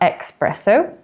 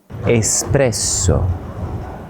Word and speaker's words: espresso: In this case, there's no X. So, it's not espresso, but espresso.